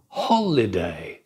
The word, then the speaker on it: holiday: Photograph. Da da da. Yesterday. Da da da. Yesterday. Holiday. Da da da. Holiday. Stress on the first syllable.